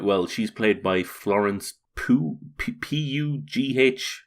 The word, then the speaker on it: Pugh: She's played by Florence Pugh. P-U-G-H. How do you pronounce that? Pugh? Yeah, Pew.